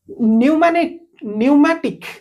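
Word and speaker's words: pneumatic: कोनसी जंत्र न्यूमैटिक okay न्यूमैटिक तो एठी पी को आपण साइलेंट रखिबे ओके तो आकु आपण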